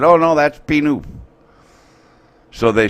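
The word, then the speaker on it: Pie-IX: And the name of the road is P-Noof. Okay? Yeah. P-Noof. And it's spelled P-I-E, Pi, N-I-N-E, 9. Pi 9 is how it's written on the map.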